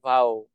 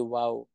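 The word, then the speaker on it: vav: ang ang letter u ng Hebrew Word ay Vow hindi Wow so a so Jesus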